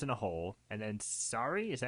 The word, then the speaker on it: Sari: and Gabe falls in a hole, and then Sari, is that how you say it? Yeah, Sari.